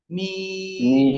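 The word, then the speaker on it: م: মিমটা দুই ঠোঁটের শুকনো জায়গা থেকে উচ্চারিত, কোথায়? দুই ঠোঁটের শুকনো জায়গা থেকে। মিম মিম, এভাবে উচ্চারণ করতে হবে।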